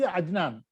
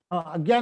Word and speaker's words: अज्ञान: Who doesn't know all these things, the Ajnan. See, it is not to be pronounced as ajnan या विज्ञान. It is अज्ञान और विज्ञान. Agyan or Vijnan.